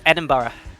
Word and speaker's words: Edinburgh: the correct one but we mostly just say edinburgh yeah and bro as long as it's not burke then you're fine edinburgh and that's a